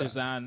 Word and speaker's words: Lausanne: It's like French Lausanne. You know, because Lausanne, I think.